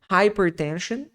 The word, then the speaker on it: hypertension: fratura inflammation literalmente inflamação Hyper com esse som de high né hypertension hipertensão diabetes aqui o